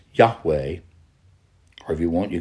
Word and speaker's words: Yahweh: is not the exact way it should be pronounced nevertheless it's Yahweh or if you want you can say Jehovah one God but who is this God that's